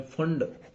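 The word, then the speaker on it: Pfund: वैसे ही यदि हम लास्ट सीरीज की बात करें, फंड, ये पी फंड नहीं है, फंड है, पी साइलेंट है यहाँ पर।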